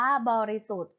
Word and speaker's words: บริสุทธิ์: ค่ะ คำ ว่า บริสุทธิ์ บริสุทธิ์ อ่าน ว่า บริสุทธิ์ บริสุทธิ์ ประกอบ ไป ด้วย